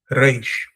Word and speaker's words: reish: of the alphabet and is pronounced in our videos, or their videos rather in this case, and not ours, as an alveolar flap or trill, like the Spanish or Arabic R sound. That's basically what I just explained to you, like a reish, reish, ra, reish, rabim, rabbanim, medaber. Most modern Hebrew speakers pronounce this letter as a voiced uvula fricative sound, like French or German sound.